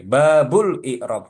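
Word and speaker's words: باب الإعراب: Bacanya jangan disukunkan aja. Bab i'rob. Ya, babul i'rob. Karena dia sebagai khobar.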